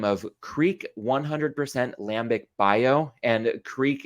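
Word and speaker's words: Kriek: bottle of a Beer by the name of Creek 100 Lambic bio and Creek in this case is spelled k-r-i-e-k it's basically to denote that this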